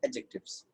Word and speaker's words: adjective: हूँ, एडजेक्टिव एडजेक्टिव एडजेक्टिव, लेकिन असल में डी साइलेंट होता है। अब अपने आप से बोल के देखो क्या साउंड आएगा, एडजेक्टिव्स, राइट।